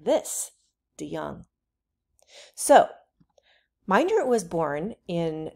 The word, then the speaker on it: DeJong: So whenever we see a J like that, it's pronounced with a Y. So his name is pronounced like this, DeJong.